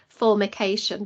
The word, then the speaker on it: formication: got a proper name you just have to be a little bit careful how you say it it's called formication but it's with an m just be careful how